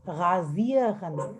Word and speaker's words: rasieren: How is A pronounced, guys? A? E. Ah, Razieren. Raziren. A is pronounced as A and I is pronounced as E. E. So Razieren. Razi.